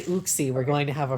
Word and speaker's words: Uxie: It's Uxie. Uxie. I say Uxie. See. If you say Uxie, we're going to have a problem.